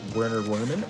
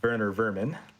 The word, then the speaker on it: Werner Werman: Coming up, we are going to be facing against Werner Werman, or I guess I pronounce it Werner Vermin.